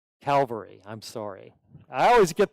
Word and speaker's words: Calvary: the city Gates was became El gotha or cavalry Calvary I'm sorry I always get those pronunciations mixed up and we all know the